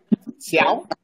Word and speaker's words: Xiao: Am I pronouncing that correctly? Xiao?